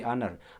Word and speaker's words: honor: Dan huruf H itu konsonan begitu. Cuman cara bacanya itu pakai huruf vowel ya. Jadi kita pakai suara vowel tuh.